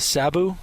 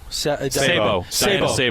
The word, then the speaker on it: Sabo: And I always mispronounce her last name. Is it Sabu? Sabo.